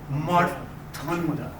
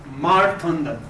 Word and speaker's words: Mārtaṇḍa: So you got to curl your tongue up.